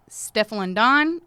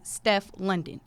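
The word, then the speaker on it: Stefflon Don: this year which is you could say her name two ways you can say steffel and on or you can say Steph London she is super dope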